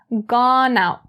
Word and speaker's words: gone out: And for the last one, gone out, gone out. Same thing as the one before. The n in gone is brought over to out.